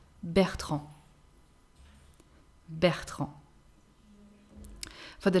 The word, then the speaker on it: Bertrand: Bertrand.